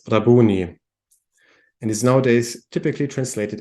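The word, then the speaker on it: Rabbouni: so this is the Aramaic word and this is pronounced as rabuni and is nowadays typically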